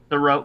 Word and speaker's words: Thoreau: Thoreau, Captain Thoreau, like Henry David. Yes, spelled the same way.